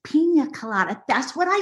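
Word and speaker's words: piña colada: Mom, it's pronounced pina colada.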